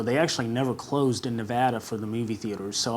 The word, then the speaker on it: Nevada: because i go to nevada plenty of times it's pronounced nevada not nevada nevada so that way you can say it correctly now exactly nevada not